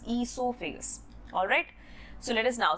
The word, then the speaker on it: esophagus: And do not forget to pronounce it as esophagus because it is not oesophagus, it is esophagus.